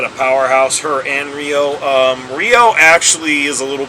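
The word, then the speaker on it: Rhio: Anyway, this young lady right here is known as Rio, and with the spelling, there's going to be some confusion, let's be clear, but it's spelled R-H-I-O.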